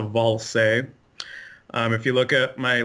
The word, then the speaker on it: Ballze: yeah its if you if anybody tries to pronounce it it's it's as if you spelled it V a ll s ISA ball say if you look at